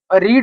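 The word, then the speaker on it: read: अब ये जो रीड होती है, इसकी जो फॉर्म होती है फर्स्ट, सेकंड और थर्ड। अब ये स्पेलिंग तो सेम होती है, लेकिन बोलने में क्या आता है, रेड। रीड रेड रेड।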